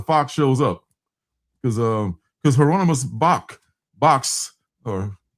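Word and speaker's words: Bosch: In some shape or form, the fox shows up, because Hieronymus Box or Box, spelled like Box, but it's pronounced, it rhymes with fox.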